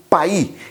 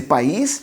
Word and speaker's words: País: A primeira casta era chamada de Listán Prieto, mas lá no Chile ela recebeu o nome de Paí. Escreve-se país, mas a pronúncia é praticamente com um S mudo.